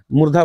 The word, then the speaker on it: मूर्धा: मुर्दा। यानी तालु के ऊपरी भाग को क्या कहते हैं? मुर्दा कहते हैं। मुर्गा नहीं मुर्गा मत समझिए। मुर्गा मुर्गी। मूर्धा बोलते हैं। मूर्धा ठीक है और जो चौथा है